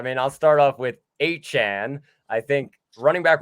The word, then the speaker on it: Achane: was, NBC Sports, and said, hey, no, this is my name. And so we will pronounce it that way. Devon H-Chan, sorry, see, it's already forced a habit.